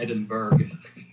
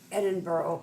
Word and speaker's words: Edinburgh: Louisville is straight out just like it's not Edinburg Edinburgh yes Edinburg Edinburgh Edinburg glasow well we have